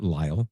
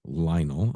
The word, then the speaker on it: Lionel: First of all, I am Lionel because I'm going to remember this time. Not Lyall, Lionel.